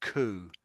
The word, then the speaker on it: coup: But when it's just COUP, it's pronounced coup, like COO, strangely.